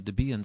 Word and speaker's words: Debian: pretty solid uh distribution still over on the debian side or debbie inside depending on how you pronounce it there's debian itself which is available